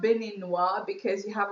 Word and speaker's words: Beninois: So it's Beninoise. If there was no e like a man, we're going to say he's Beninois. So without the z at the end.